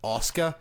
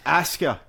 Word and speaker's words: Asuka: I'm like, no, it's Asuka. I know. There is no fucking W in it.